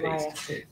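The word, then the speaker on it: Payst: I always get his name wrong. Craig Paste. P-A-Y-S-T. I always want to say paint.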